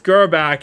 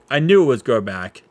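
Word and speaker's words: Grbac: Elvis Gerback is the guy I'm missing.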